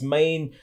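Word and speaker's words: 马: original character this was a horse with its mane flapping in the breeze as it was galloping around and so the pronunciation of this was ma and so the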